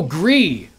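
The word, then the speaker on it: GRIS: the official like cuz cuz it's French I think the official pronunciation is gree but I've always called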